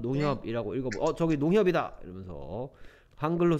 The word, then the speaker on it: 농협: 얘는 미국 사람, 미국 발음으로 들으면 이상하게 읽을 거야 아마. 농 하이읍. 농하이업 이렇죠. 우리 한국 사람 네. 농협이라 읽는데.